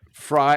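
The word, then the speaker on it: Frey: me a bottle of I think I'm saying it right fry f r y like Glenn Fry from the Eagles fry Ranch quad malt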